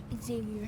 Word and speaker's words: Xavier: Xavier. How many syllables in your name? 4. Okay, let's stomp them. Xavier. Xavier.